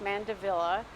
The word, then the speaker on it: mandevilla: So the dipladenias have been kind of lumped in together with the mandevilla, and it is pronounced mandevilla. It's named after an English diplomat named Mandeville.